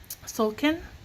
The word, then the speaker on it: Tzolk'in: Together, the glyphs and numbers from the, I can never pronounce this, okay? So it's Tzolk'in, the sacred round of the Mayan calendar.